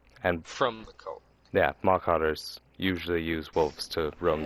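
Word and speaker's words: Mawcotters: Kyle, can you spell that real quick? Malka. M-A-W. Okay, I was way off. M-A-W. C-O-T-T-E-R-S. O-T-T. Marcotters.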